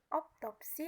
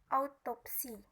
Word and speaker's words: autopsi: sebenarnya harus Aula kesalahan pengucapan optopsi yang seharusnya diucapkan eh autopsi atau perbendahend pembedahan tubuh